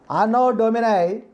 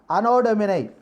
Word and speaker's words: anno domini: one is unknown domini anno dominic anodominate not unknown dominic anno domini means we should not pronounce double letters in english language analytic means what is